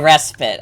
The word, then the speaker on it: respite: um by the way the word is pronounced respite oh respite okay got it well I